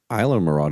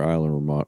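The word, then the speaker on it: Islamorada: Then I have I went to Isla Mirada. Is it Isla Mirada or Isla Mirada? Isla Mirada. Isla. You guys are gringos. That's where it's Isla Mirada. Are at, boy. The S is silent, Bill.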